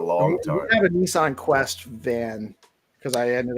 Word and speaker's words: Nissan: my opinion you say Nissan Nissan not Infinity niss Nissan in South Africa well there is two s's so it would make sense phonetically that the eye would be a soft eye you should uh check